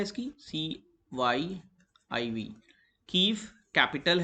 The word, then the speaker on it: Kyiv: तो KYIV, कीव से pronounce किया जाता है, ये इसकी कैपिटल है।